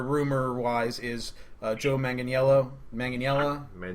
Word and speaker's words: Manganiello: Manganiello. If you just say it like an American, Manganiello.